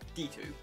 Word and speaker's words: Dx2: translated into english it's spelt dx2 but pronounced as d2 like hunter hunter this is a gacha